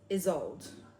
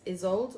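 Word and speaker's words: Ysolde: But it's is old. It's spelled like Y S O L D E. I think it's Isold or Isold um is a model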